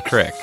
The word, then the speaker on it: crick: I've never even heard of the pronunciation crick. I hear it almost as often as I hear creek is.